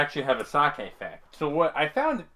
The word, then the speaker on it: sake: Is it pronounced sake or sake? It's sake.